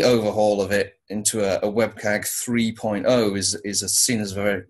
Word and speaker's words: WCAG: then I learned that web-CAG the web content accessibility guidelines was getting an update some people call it W-CAG I call it Web-CAG I think I'm the only person who pronounces it that way.